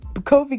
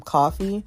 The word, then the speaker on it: Kofi: pay for him and call him coffee and i'm just like no it's kofi dad you know you keep you know mispronouncing his name and all this other